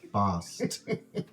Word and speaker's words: Basque: Summers like in Basque it's pronounced Bost with a t boss cuz in scull we